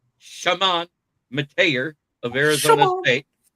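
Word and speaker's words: Chamon: But anyways, Warhawks, it's Shamant Mateer of Arizona State.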